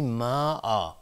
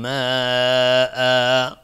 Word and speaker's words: ماء: اینجا دقت کنید روی کلمه ما آ. اگر توقف کردیم اینجا یک الفی اضافی تلفظ میکنیم برای اینکه مشخص بشه اینجا تنوین نصب بوده. میگیم و ان هو الذی انزل من السماء ماء. پس توقف کردن روی کلمه ما، میگیم ماء.